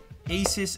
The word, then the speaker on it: ASUS: The LG Watch Urbane, the Fossil smartwatch, yeah, the Q Founder, and the Asus ZenWatch 2. That one, Asus would rather me pronounce ASUS, but I feel much more comfortable saying Asus.